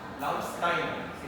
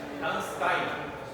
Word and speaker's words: Landsteiner: Karl Landsteiner, porque no es inglés. Landsteiner. Si le hago el examen oral, lo tienen que pronunciar de esa manera. Landsteiner.